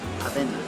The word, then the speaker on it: avena: Avena.